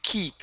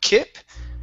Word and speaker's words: keep: All right, and here this is going to be did you keep instead of kip.